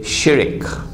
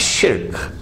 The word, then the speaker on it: shirk: The Malays say shirik. Please change your pronunciation. It's shirk.